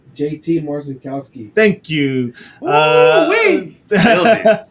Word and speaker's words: JT Marcinkowski: I'm not even going to try to pronounce his name. Edgar, how do you say his name? JT Marcinkowski.